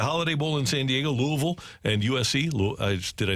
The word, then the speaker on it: Louisville: Then tonight, you've got the Holiday Bowl in San Diego, Louisville, and USC.